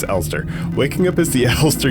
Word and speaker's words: Elster: from start to finish waking up as the Esther elster elster is it the see I had such a tough time pronouncing this waking up as the alster unit right it's Ulster waking up is the alster unit on an